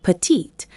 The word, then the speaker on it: petite: If describing a woman, add an E. So she is grande or petite. You must pronounce the final consonant sound for her.